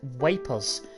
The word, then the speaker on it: Ypres: So, Ypres, a town in ruins, dubbed Wipers by British troops due to its difficult pronunciation.